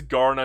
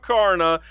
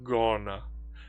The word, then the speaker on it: Kaurna: I looked up the actual pronunciation to this game and yes, it is Garner, not Garna. I've called it Garna so many times that people actually started to yell at me. It's Garner.